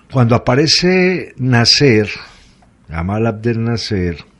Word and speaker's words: Nasser: egipcio d cuando aparece nacer gamal abdel nasser nasser como el pronunciarían en inglés nacer tumbado un golpe de